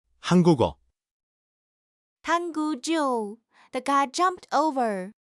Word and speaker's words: 한국어: The word for the Korean language is spelled 한국일, but the final key slides into the empty, so it's actually pronounced 한국어, 한국조.